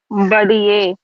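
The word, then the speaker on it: पढ़िए: குழந்தைங்க படிக்காம சுத்திட்டு இருந்தா என்ன சொல்லுவோம் படியேன் கொஞ்ச நேரம் தான் படியேன் அப்படின்னு சொல்லுவோம் அதே உச்சரிப்புதான் பண்ணனான்றது பண்ணனான்றது ரூட் வெர்ப்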